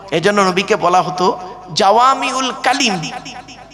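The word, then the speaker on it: قُلْ: কুল। উচ্চারণটা করুন। কুল। কুল নয়, কয় হস্য উলা কুল, কয় বয় হস্য উলা কুল, দুটো কুলের মধ্যে পার্থক্য আছে গো বাবা।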